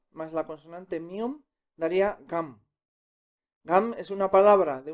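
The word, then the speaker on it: 감: la vocal a más la consonante mion daría gam. Gam es una palabra de una sola sílaba, o sea, como palabra es una palabra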